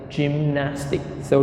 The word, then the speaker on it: gymnastics: and number four gymnastic gymnastic so there are three syllables Jim Nantz gymnastics gymnastics gymnastics gymnastics so we stress on the second syllable gymnastic gymnastic and the